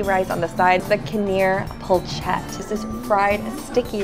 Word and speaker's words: Konia: so good I know I was eating it pronounced caner find this gem at 403 Ron veils Avenue